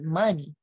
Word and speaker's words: Muni: he was like that's dope but you should pronounce the money so i was like that's fire google there